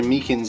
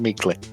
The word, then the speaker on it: Meekins: place uh actually officer Meekins at the detention center told us that poor little doggie poor guy I keep getting his name wrong calling them meekly he told us something